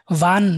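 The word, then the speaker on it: wie: ভি, VEA, ডব্লিউটাকে আমরা ভি উচ্চারণ করব।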